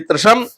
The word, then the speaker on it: त्रिशम: अगला है देखिए त सॉरी त्रिशम त्रिशम में भी त्र है। त और र से मिलके बना हुआ है इसलिए त्रिशम इस्मा है ज्ञानी अगला